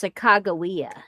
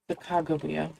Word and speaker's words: Sacagawea: It depends on how you're pronouncing it. If it's Hidatsa, you are correct. If you're saying it from her own language, then it's Sacagawea. Sacagawea. Something like that.